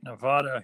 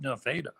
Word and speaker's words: Nevada: Or as they call the town that's spelt like the state Nevada here in Iowa, they call it Nevada.